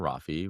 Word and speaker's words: Rafi: You mentioned your husband, Rafi, which does not rhyme with coffee.